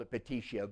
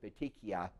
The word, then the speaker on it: petechiae: purpura p'tee she petechia I've always called uppity Xie but most people pronounce it petechiae so your primary lesions